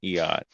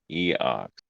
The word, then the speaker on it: Eox: No, not Eot. Eoc. Will you spell it in chat? Because all I'm hearing EOX.